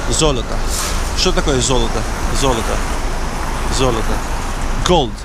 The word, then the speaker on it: Золото: Золото. Gold. So the first O, because it's stressed, it's pronounced as O.